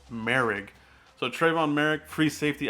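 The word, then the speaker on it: Moehrig: Pronounced Merrick.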